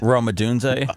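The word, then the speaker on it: Rome Odunze: Uh, Seth Roma Dunz.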